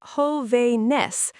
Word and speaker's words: jóvenes: Plural, jóvenes, pronounced jóvenes, and now you write an accent over the O.